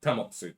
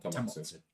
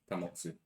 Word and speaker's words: Tamotsu: Oh, Tamotsu. Sorry, not Tomatsu. Tamotsu.